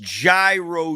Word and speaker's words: gyro: special it is pronounced gyro you Savages thank you